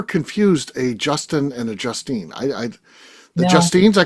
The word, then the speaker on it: Justine: apparently it happens to Justine a quite a bit. People look at her and be like, "Justin." That That E at the end says it all.